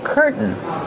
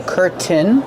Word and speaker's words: curtain: We have two pronunciations. You can pronounce the T and say curtain. Curtains. Or you can use the stop T. Curtain. And then link to the N sound.